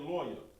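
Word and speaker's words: לוי: His name is Lawyer. Lawyer, that's Levi. All right? So we got this right here. I'm going to leave this up here. Put this right here. Levi. All right? So now I got Levi, and in the Hebrew is Lawyer.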